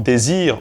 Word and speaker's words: dezir: De même, Z est prononcé ze en judaismo, alors qu'en castillan, il est prononcé th. En vieux castillan, cette lettre correspondait au son dj. On a par exemple désir en judaismo, mais on a decir en espagnol moderne.